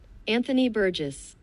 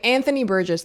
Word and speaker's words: Anthony Burgess: language that Anthony Briggs Bess Okay, how to pronounce because like I keep Okay, Anthony Burgess. Okay, Anthony Burgess, thank you so much for this.